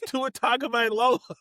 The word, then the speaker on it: Tua Tagovailoa: It's Tua Tagovailoa.